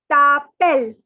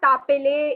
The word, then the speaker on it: t'appelles: And the last part is tapel. Okay, the S is silent. Tapel. It is not tapele, it is not tapeles. Okay, please note it is tapel.